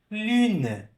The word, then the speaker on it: lune: Lune. Lune, tá? Tu, lune. Mesmo som. U, tá bom? Então, não tenha vergonha de pronunciar o U com o biquinho. É a única forma correta de pronunciar a letra, tá?